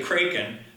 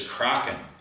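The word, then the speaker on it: Kraken: the correct pronunciation is Crockett a croc and fish is a Norwegian sea monster which is pretty cool and this is how they say it in Norway so we'll stick with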